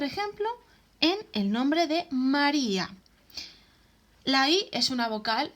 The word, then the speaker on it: María: No decimos María, sino María.